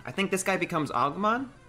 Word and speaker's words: Agumon: I think this guy becomes Agumon? How do you say his name? The little orange guy. Agumon.